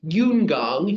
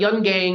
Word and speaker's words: Yungang: on the right track it's pronounced yungang yungang but Yung gang is is how you would probably in English yeah yungang Gros and